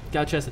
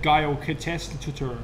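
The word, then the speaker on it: Gyalchester: Galchester, thank you. I would have butchered that. I would have said Gail Catestator.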